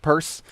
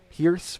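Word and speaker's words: Peirce: that's like reading so i'm pretty sure it's rounds purse because that's how my professor pronounced it but it looks like pierce perhaps anyway i'm gonna sound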